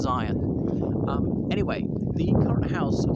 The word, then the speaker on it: Syon: It's spelled S-Y-O-N, but pronounced Zion.